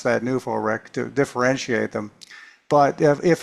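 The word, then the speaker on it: NUFORC: other folks founded New For I I say New for Rick, by the way. If you say New Fork, you think of Peter Davenport. And so, I pronounce that Newf Rick to differentiate them.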